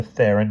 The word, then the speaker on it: Theron: Remember, Theron rhymes with heron.